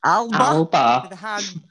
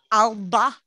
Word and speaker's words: Alba: I'm not going to pronounce it correctly in the Gaelic way. I'm going to pronounce it how they launched it. Alba. Alba with a hard B.